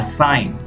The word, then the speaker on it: sign: next letter is G here in these words we are not going to pronounce the letter G so try to pronounce the first pronunciation is foreigner a sign design a line campaign